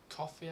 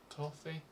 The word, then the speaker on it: Ko-fi: There's another place called Ko-fi, I think it is, or Ko-fi. It's spelled K-O-F-I.